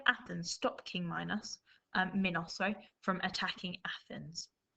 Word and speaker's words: Minos: was king minos okay you might say minus but i would pronounce it as minos okay and he lived